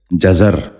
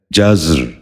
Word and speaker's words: جزر: نشین کر لیجئے، جسامت۔ آٹھواں لفظ ہے جزر۔ یہ غلط تلفظ ہے، درست تلفظ ہے جزر۔ دوبارہ سنیے، جزر۔ بچوں